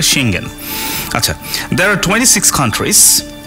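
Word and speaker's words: Schengen: শেঙ্গেন, উচ্চারণটা অনেকে শেঞ্জেন করে, আসলে শেঙ্গেন.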